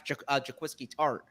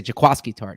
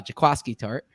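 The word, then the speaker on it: Jaquiski Tartt: or you're perhaps perhaps jaquisky tart you're looking at this and saying uh i should say jakowski tart not jaquisky uh jakowski tart i'm working on my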